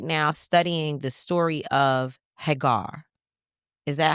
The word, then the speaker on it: Hagar: I am right now studying the story of Hagar. Is that how I say it properly? Hagar.